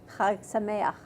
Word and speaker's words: Chag Sameach: Chag Sameach.